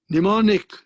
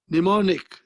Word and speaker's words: mnemonic: common this is called mnemonic what is it called mnemonic m is not pronounced mnemonic a phrase this is